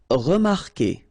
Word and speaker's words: remarquer: Okay, remember that when we've got this Q, and after that, well, vowel like here. Anyway, you've got to put this vowel U, even if you don't pronounce it. Okay, so it will go like que. Okay, remarquer, remarquer. Then éviter, établir, réussir.